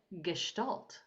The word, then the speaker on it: Gestalt: We will be discussing Gestalt Language Processing, and I know I pronounced that right because Sabrina is German and she told me how to pronounce it.